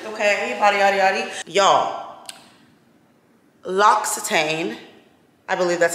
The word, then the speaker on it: L'Occitane: Y'all, L'Occitane, I believe that's how you pronounce it.